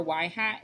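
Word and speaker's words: ŷ: y hat equal a + b x where y hat is pronounced y hat um is the predicted value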